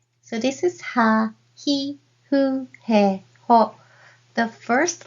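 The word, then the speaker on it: ふ: Hu, this is more like HU sound rather than FU sound. So blow candle gently and hu, and that is this hiragana, hu.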